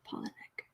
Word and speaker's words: Palahniuk: just save okay pollinic it says pollen nick i think the accent is on the first syllable polynek okay thank you okay